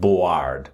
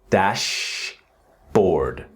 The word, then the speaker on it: dashboard: Now I know in the spelling of board, you can say B O A or D, but there's really no letter A sound. It's not board. It's dashboard. Dashboard.